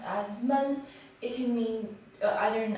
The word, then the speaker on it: 闷: The first is mun, which is depressed or to be stuffy. When it's pronounced as mun, it can mean either an adjective or a verb.